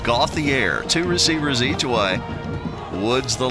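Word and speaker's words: Gauthier: i re r i believe but it is pronounced got the air to receiver z2i woods the lone back to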